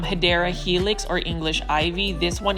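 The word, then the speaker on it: Hedera helix: see this one is a HRA helix or the correct way to say is um hyera helix or English ivy this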